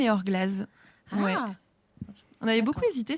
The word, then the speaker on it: Eor Glas: un Z ouais et du coup on dit AOR glace ou AOR Glaz ça se prononce quand même EOR gllaz ouais on avait beaucoup